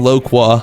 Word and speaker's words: loquat: Okay, I just searched it up and apparently this is pronounced Fyoa and then Loqua.